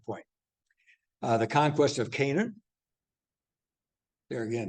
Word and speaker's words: Canaan: uh the conquest of Canaan there again here's your pronunciation if we really want to be right about it be Canon but uh We've uh